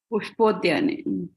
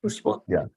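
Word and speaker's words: Pushpodyane: But when you read a sloka, you pronounce the way it is typed in the sloka. Pushpodhyane. Pushpodhyane.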